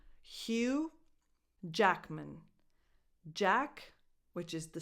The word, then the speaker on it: Hugh: Hugh, the last two letters are silent, so it's just Hugh, a strong H, and then U. Hugh Jackman.